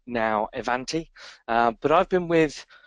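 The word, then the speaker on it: Ivanti: up to speed um evanti e e pronounced double e uh in instead of the i e van um is the new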